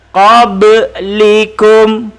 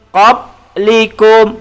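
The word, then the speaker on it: قبلكم: huruf balok huruf Qalqalah jadi kita membacanya Kobe likum tapi kalau tidak lantun kita baca qoblikum pop likum bacaan yang salah Hai bacaan yang betul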